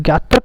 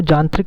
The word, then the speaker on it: ज्ञात्रक: तो ज्ञात्रक कुल में इनका, कहीं कहीं आपको जानत्रिक कुल भी मिल जाएगा, ये पाली भाषा में थोड़ा उच्चारण का अलग अलग तरीके से उच्चारण किया जाता था।